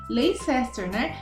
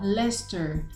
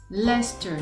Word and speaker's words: Leicester: Leicester, Mas a gente não vai falar desse jeito, nós vamos falar Leicester. Leicester, tá vendo?